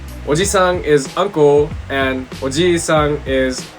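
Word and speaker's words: おじいさん: Oji-san.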